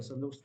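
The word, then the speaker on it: Sandrocottus: तो चंद्रगुप्त मौर्य का जो ग्रीक नेम था दैट वाज सैंद्रोकोतस, ठीक है, सैंद्रोकोतस जैसे प्रोनाउंस कर लीजिए, ठीक है।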